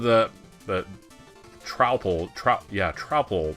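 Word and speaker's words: Troupple: the trle trout yeah tropel this is kind of a weird word half trout and half Apple pronounced like mouthful he's one of the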